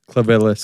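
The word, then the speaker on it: Clivillés: Clavillis.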